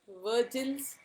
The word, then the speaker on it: Vogel: We are doing today one problem on Vogel's approximation method, or what you how you have to spell it as Vogel, but pronounce it as Virgil's approximation method, all called VAM.